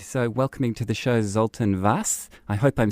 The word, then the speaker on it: Zoltan: and uh yeah you spelled my name you pronounced my name correctly so my name is zoltan and i'm the co-founder and co-chair of tech